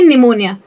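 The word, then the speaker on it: pneumonia: कुछ वर्ड्स हैं जिनमें कोई लॉजिक ही नहीं है, जैसे कि निमोनिया। ऐसा कोई रूल नहीं है कि एन अगर आया तो पी साइलेंट ही होना चाहिए। लॉजिक सिंपल ये है कि पी और एन का साउंड नहीं है साथ में, तो पी एन ऐसा कोई साउंड ही नहीं होता है, ऐसा कोई साउंड नहीं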